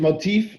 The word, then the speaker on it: Moteefe: with the pronunciation motif i listen norwich i pronounce it motif but as long as people know to find